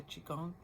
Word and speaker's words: Qigong: amazing that teach the Qigong. That's QI and then a separate word, Gong. QI, Gong. You can pronounce it Qigong, Qigong. So it's like Tai Chi but simpler.